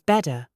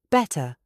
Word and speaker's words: better: In American, it is bedder. It sounds like the thing you sleep on a bed. But in British English, it is better, beater. You must pronounce the double T.